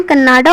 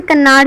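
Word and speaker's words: Kannada: इसे कन्नाड़ भी कहते हैं, पर जब हम इंग्लिश में इसे प्रोनाउंस करेंगे तो कन्नाडा कहेंगे। Well known for his translation of classical एंड modern poetry.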